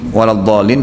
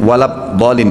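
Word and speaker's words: الضالين: saya ketika salat berjamaah mendengar Imam membacanya wadin wabin dibaca sedang dalam Alquran saya lihat tidak ada huruf ba Bagaimana solusinya ya yang saya tahu tetap di baca do ya Win ya Bolehkah salat tahiyat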